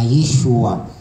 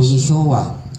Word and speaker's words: Yeshua: Dito pinangalanan po siya sa wikang Aram Mik na Yeshua o Yeshua binibigkas po natin na kung saan bukod